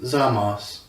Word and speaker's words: Zamasu: So Zamasu. It's pronounced Zamos, but in Japanese they add the little extra syllables to it. That's why it's Trunksu, not Trunks.